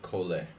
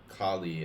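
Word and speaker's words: Colle: of of Chloe's name Kali is definitely not definitely not to correct pronunciation it's safe to say that but it's just easy to say it sounds like collie dog Coley was Belgian Belgian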